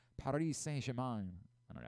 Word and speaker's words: Paris Saint-Germain: Paramount Plus, Lazio and Bayern Munich at 3, Paris Saint-Germain. I don't know how to say it correctly. No, you said it right. Paris Saint-Germain.